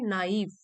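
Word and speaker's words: naive: होता है लालच, और इसका प्रोनाउंसिएशन है नाइव, नाइव, मेरे लालच और इन्वेस्टमेंट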